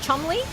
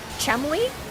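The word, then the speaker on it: Cholmondeley: Chley, whatever the it's Chumley. that like weird British royal family or whatever royal adjacent that are like their their name is like Cetmley but you only pronounce Chemley.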